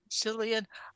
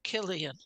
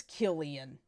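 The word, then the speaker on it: Cillian: l i a n but it's not pronounced what you would think cyan I would say that the C is pronounced like a k so do Killian all right apologies to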